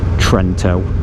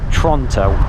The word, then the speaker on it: Trento: I still can't believe it's pronounced Trento. I could have sworn it was pronounced Toronto.